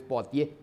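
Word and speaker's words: Poitiers: Poitier se escribe y se lee en francés. Poatier.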